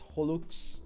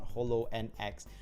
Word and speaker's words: holoX: Holo-X is pronounced as Holux, similar to Horus, not Holo and X.